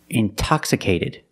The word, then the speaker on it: intoxicated: Or words like intensive, intoxicated. We have the stress after the NT. We pronounce the T like a pure T.